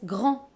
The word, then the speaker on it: grand: Yes, "GRANDE, you hear this difference in the pronunciation between the feminine and the masculine? "GRANDE" for feminine, and "GRAND" for masculine!